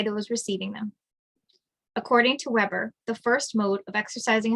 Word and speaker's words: Weber: and bureaucracy born in germany max weber pronounced weber was interested in the